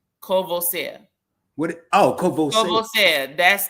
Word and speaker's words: Courvoisier: I bet you get more people that pronounce it wrong. Courvoisier? Courvoisier.